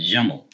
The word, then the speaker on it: جمل: 2 syllables. Jamel. We have the tanween. Jamalun. It's a jamel, like camel, right?